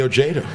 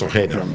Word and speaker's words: Ojeda: If you want to say it in Spanish, Ojeda. Right, it's Ojeda.